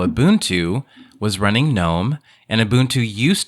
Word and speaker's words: GNOME: and a head good gnome but with the G and I'm gonna pronounce it the Croatian way which is you know Maya's using Ubuntu with the kinome and I wanted to